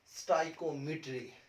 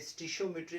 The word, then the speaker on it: stoichiometry: लगे हैं वो है स्टाइकोमेट्री। इसकी डिफरेंट प्रोनाउंसिएशन है। इसे स्टिशोमेट्री भी कहा जाता है, इसे स्टोइचायोमेट्री भी कहा जाता है। जो आपको इजी लगे आप वही प्रोनाउंस करें।